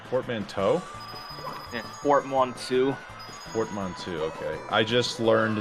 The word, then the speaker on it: portmanteau: How do you pronounce that word again, Greeth? You said portmanteau? Yeah, portmanteau.